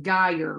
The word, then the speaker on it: Greier: sweet tonight we'll see your name is pronounced geyer right yes okay i was